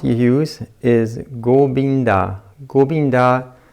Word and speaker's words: Govinda: on the last one you put the focus on the last syllable da so it's cool being da that will be the last part let's try it together Govinda Govinda Govinda Govinda Govinda